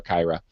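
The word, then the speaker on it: Kyra: is pronounced whether it's Kira or Kirra but I am standing by the fact that this should be pronounced with a French accent because it is based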